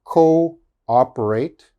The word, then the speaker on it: cooperate: says double o but the double o they are pronounced separate okay they are not pronounced together so this word is co-operate co-ordinate cooperate coordinate okay